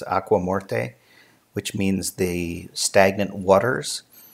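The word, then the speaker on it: Aigues-Mortes: walled city called and I'm going to pronounce it as if it were Spanish but it's not it's aqua morte which means the stagnant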